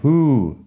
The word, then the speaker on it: who: Who, W, H, O. Who, se pronuncia así. Who. La H se aspira, la W no suena y la U es larga.